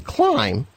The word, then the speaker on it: climb: is when the M&B come together like in climb the bee is silent when the G&N come together like in